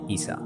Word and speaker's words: ঈসা: ঈসা আলাইহিস সালাম বা যীশুর নাম তার মাতৃভাষায় ইয়েসওয়া। আরবিতে উচ্চারণ করা হয় ঈসা।